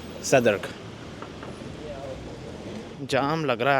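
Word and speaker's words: Southwark: और इस एरिया में मैं रहता हूँ जिसे सदर्क कहा जाता है। इंग्लिश में स्पेलिंग पढ़ोगे तो साउथ work, but British English में सदर्क।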